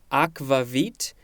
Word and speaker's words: akvavit: of the word aquavit a-q-u-a-v-i-t i know that in some languages especially maybe old old or latin the v's are used so in this case i think it is probably just pronounced aquavit next we have a